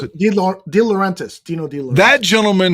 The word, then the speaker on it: De Laurentiis: How do you know pronounce it? De Laurentiis.